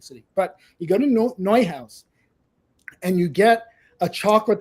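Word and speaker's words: Neuhaus: I don't know how widespread they are outside of New York City, but you go to Noi House and you get a chocolate they have called a ceret.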